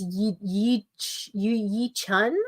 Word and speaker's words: Yi Chun: Oh, you pronounced the J. Okay, so it's Yi Chun.